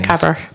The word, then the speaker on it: Cabrach: People at North Uist, I'm not sure to pronounce the one that Ewan's just gone to. Is it Cabrach? Yeah, Cabrach.